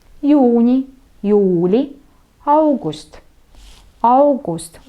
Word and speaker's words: august: По-эстонски это «аугуст». «Аугуст». Буковку «а» хорошо произносим, чтобы ее было слышно. И ударение на первый слог.